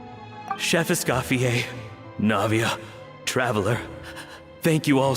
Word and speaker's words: Escoffier: So the characters have a lot of French pronounced names. Like, Escoffier, Neuvillette. Vermont, like how Escoffier pronounced it now. Chef Escoffier, Navia, Traveler, thank you